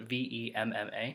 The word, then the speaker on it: Vemma: The name of the company is Vemma, although they spell it V-E-M-M-A, so it should be Vemma, but regardless, that's the least of my concerns with them for right now.